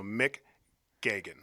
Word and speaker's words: McGeogh: So McGeoghan. McGeoghan. Yeah, so Geoghan is phonetically Gagan if you were in McGeoghan.